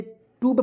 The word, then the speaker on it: tube: टी से देखिए, टी से मैंने आपको बताया आधा ट का प्रयोग करेंगे, और UBE इसका उच्चारण यूब के रूप में करेंगे। जी हाँ दोस्तों, तो हो जाएगा ट्यूब।